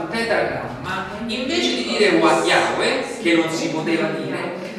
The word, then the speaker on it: Yahweh: Per cui Y, H, W e H, che più o meno si dovrebbe pronunciare Yahweh.